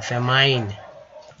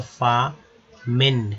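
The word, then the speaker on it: famine: ही बोलते हैं फेमाइन, लेकिन यहाँ आई का उच्चारण आई की तरह नहीं होगा क्योंकि माइन से तो माइन लोग बोलते ही हैं, लेकिन यहाँ वो नहीं पढ़ेंगे क्योंकि एफ लग गया तो फामिन क्या बोलेंगे दोस्तों, फामिन उच्चारण होगा फा, ठीक है, ये हो गया मिन।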